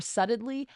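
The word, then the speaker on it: subtly: BT l e y why do we spell it with a B when it's not even that's not even how you pronounce it I can't say the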